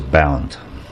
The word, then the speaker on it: Bernd: But anyway, um so my name pronounced is bound. Yeah. Bound. Bound. Bound VA.